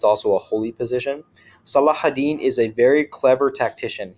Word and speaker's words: Salahuddin: entire film or as Saladin as you might see it's spelled in English in reality it's salahuddin Salah is like a